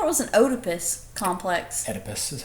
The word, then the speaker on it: Oedipus: Oedipus is how it's pronounced.